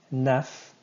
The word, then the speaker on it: neuf: Neuf. Enough said, right? I've had enough of this. Neuf. Enough. Kind of sounds like the word enough.